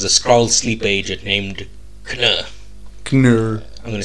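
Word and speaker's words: Kh'nr: Captain Marvel was a scroll sleep agent named can can I'm going to spell that okay k h n apostrophe NR can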